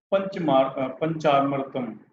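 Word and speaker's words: panchamrit: First of all, second, Palani Panchamratam. This Panchamrat, yes, this is correct pronunciation.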